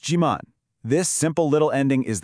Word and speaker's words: 지만: And here it is, your magic word, chiman. It's pronounced jiman.